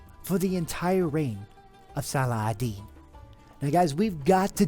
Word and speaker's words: Salah al-Din: doing some research, and the European pronunciation is always Salahadin. But if you're from this part of the world, it's pronounced more Salahadin.